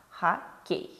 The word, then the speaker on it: хоккей: О в безударном положении звучит как А. Хоккей.